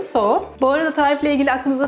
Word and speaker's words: Tso: General Chao, General Tso, General Soğa, bir sürü telaffuzu var. Ama en yakın telaffuz General Soğa.